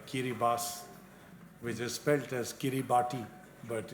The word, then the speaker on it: Kiribati: the South Pacific there is a nation called Kyra bus with a specialist Kiribati but it's pronounced as Guinea bus they have actually abandoned some of the islands